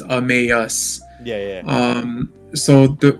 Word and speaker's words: Emmaus: um the name um so the name is pronounced amus like like when you say like amazing but it's amas yeah yeah um so the the name actually